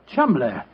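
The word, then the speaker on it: Cholmondeley: Being an American, he had no reason to know that the name Chuml is in no way pronounced the way it is spelled. Oh, Joe, I never thought of that. Chumlay.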